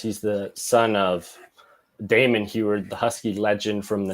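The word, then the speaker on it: Huard: And the only one we got was a kid named Sam Hubbard. And you're not going to believe Sam Heward. Heward. I am so sorry for pronouncing both of those B's.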